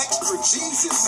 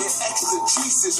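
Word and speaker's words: exegesis: it's called exra Jesus extra Jesus no I said EXT a Jesus man it's a Latin word don't be scared matter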